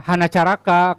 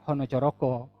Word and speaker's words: hanacaraka: nah Sunda juga sama bedanya a sama o cara bacanya tapi tulisannya sama ya hanacaraka Kalau bahasa Sunda kalau bahasa Jawa honocoroko terus apa lagi Ya